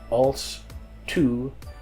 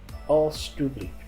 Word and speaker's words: alstublieft: You simply change the JE to TU and pronounce it alstublieft. Alstublieft.